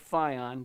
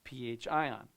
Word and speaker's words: pHion: Now, I understand it looks like fion, but it is pronounced pH ion.